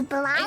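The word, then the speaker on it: Blåhaj: It's Blauhai. Is it? Blauhai. I was told it's Blauhai. Oh, It's okay. pronounced I know. Blahaj.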